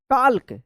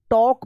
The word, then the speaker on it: talk: अब देखिए यहाँ पे TALK, इसको क्या पढ़ेंगे? टाल्क या टॉल्क, टॉल्क नहीं होगा, ये होगा, यहाँ पे भी एल साइलेंट रहेगा, टॉक पढ़ेंगे, TALK, टॉक।